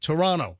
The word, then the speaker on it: Toronto: It's like Toronto. Toronto. All right. Allegedly, that's how you're supposed to pronounce it. You're not supposed to put any emphasis. You're supposed to make like the second T sort of silent.